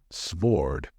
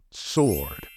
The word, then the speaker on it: sword: say this word correctly remember the second letter in this word is silent we don't say sword the correct pronunciation is sword remember it what are